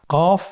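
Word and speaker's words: ق: কফ উচ্চারণের ক্ষেত্রে একটু মোটা করে উচ্চারণ করতে হবে। আপনারা আমার সাথে আবার বলুন। কফ আরেকবার চেষ্টা করুন কফ কফ উচ্চারণের ক্ষেত্রে অবশ্যই তিন আলিফ টেনে পড়তে হবে আবার বলুন কফ কফের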